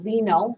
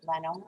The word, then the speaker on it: Leno: didn't know jay leno i would look at that and pronounce it lino but i'm going to pronounce it leno i have no idea